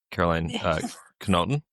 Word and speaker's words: Karoline Knotten: Caroline Kenoton. I got it right that time. There we go. Not the American pronunciation. The Norwegian pronunciation.